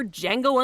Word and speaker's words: Django: Moving from spot number 2 to spot number 4, Best Screenplay Golden Globe winner Django Unchained. This Tarantino film took in $11 million. What's your name? Django. The D is silent.